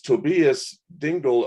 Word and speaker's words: Tobias Dengel: glad to be here our next guest is tobias dingle of willow tree to be tell me if i'm not pronouncing that right you got it um thanks